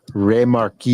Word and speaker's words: Remarqued: Remarqued. Like Bismarck. Like a French word.